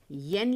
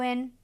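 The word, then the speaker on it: 円: अब देखिए, जापान की जो करेंसी है वो एन है और अंग्रेज़ी में येन लिखते हैं, लेकिन क्योंकि ये साउंड ही नहीं है जापानी में, इसलिए एन प्रोनाउंस किया जाता है।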